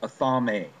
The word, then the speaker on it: athame: blade, the dagger, the athame, A-T-H-A-M-E. Athame is how you pronounce that.